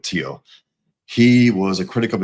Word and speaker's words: Theo: Um, Tio Vango and it's it's pronounced Tio. It's spelled Theo, but Tio.